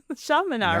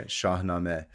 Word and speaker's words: Shahnameh: Shamina, right? Yeah. Shahame.